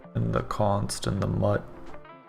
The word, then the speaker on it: mut: the const and the mut I know it's mute but like it's it there's no e so it's mut you shouldn't have been